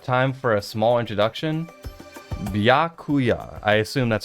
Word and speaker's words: Byakuya Togami: Byakuya. I assume that's how you pronounce it. Introduction? Come on, Hajime. You're not gonna have the voice actor, like, confirm it for me? My name is Byakuya Togami.